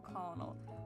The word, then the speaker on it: colonel: please call me colonel it's a colonel colin why the is english so stupid just if you're going to spell it like i like just spell it like it's how it's pronounced like jesus colonel sanders